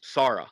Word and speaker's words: Sarah: I've been calling her Sarah Douglas for decades and only found out afterwards that the Australian pronunciation is Sarah, like tiara.